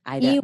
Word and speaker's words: Aida: And your name is spelled Aida, and your last name is. Ida. So close.